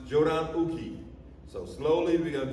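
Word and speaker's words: Jōdan uke: It's pronounced Jodan Uki.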